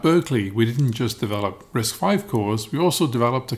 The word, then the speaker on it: RISC-V: name is pronounced risk5 as it represents the fifth generation of risk design from uc berkeley dave patterson coined the